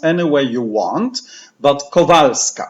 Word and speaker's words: Kowalska: parish so this is Sister Faustina Faustina can pronounce any way you want but kovaleski it's not kowalska but it is co co val/val scott scott